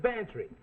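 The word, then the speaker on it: Bantreagh: Well, his is Bantry. Go on, spell it. Bantry. It sounds like pantry. I ain't no gambler, Mac. Well, get this for free. It sounds like pantry, but it's spelled B-A-N-T-R-E-A-G-H.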